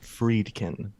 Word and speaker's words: Friedkin: William freaking William freaking what fried friedkin uh freed pronounced freedkin gotcha he's a freaking